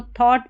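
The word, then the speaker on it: thought: Making making थॉटफुल इसको थॉट पढ़ना है। ठीक है? टी एच ओ यू जी एच टी को थॉट पढ़ा जाता है। थॉट यहां पर जो जी एच है यह साइलेंट है और ओ यू का उच्चारण ओ है।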